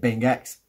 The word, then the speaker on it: Bingx: go and follow him Binks I think he pronounces it I pronounce it being X well Binks live one